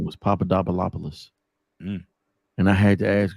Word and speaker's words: Papadopoulos: Her last name was Papadopoulos. And I had to ask her, like, how do you pronounce that?